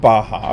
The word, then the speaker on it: Baja: It's pronounced Baja, okay.